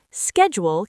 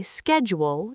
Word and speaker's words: schedule: Schedule can be said in two ways. I say schedule, US, but you might hear schedule, UK. Both are great.